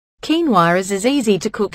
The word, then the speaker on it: quinoa: Quinoa. Quinoa, pronounced quinoa, is a nutritional all-star that belongs in your weight loss plan.